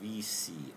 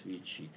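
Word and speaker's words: Vici: this collection, Vichy leather, or VC as English speakers would say, but it's pronounced, well, maybe it is in Latin also pronounced as VC, but in modern Italian it's Vichy. So it's VC leather.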